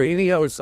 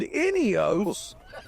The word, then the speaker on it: Ineos: another option maybe or inos owners let in they'll get mad it's inos inos not inos it's inos you must pronounce it exactly like the oil company it's named after my Father